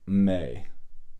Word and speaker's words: me: and this one is it looks like me but it's actually may you say it like